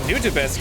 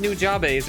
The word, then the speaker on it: Nujabes: I know I'm saying Nujabes correctly, and I got in a fight with someone over that at one point because they were like, it's pronounced Nujabes or something, and I'm like, no. His name is said in one of his own songs. I think that's the way you say it.